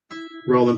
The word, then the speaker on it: Rollin: name's rollin rollin pronounced same way raleigh pronounces raleigh about that thank